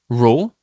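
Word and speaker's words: rho: So density is represented by the symbol row. Okay. So row is spelled as R H O.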